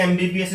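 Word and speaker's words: MBBS: जैसे एमबीबीएस student अब लिखने में एम से शुरू हो रहा है लेकिन बोलने के लिए अगेन ए प्रोनाउंस करना पड़ेगा। एम बोलने के लिए ए बोलना पड़ेगा पहले।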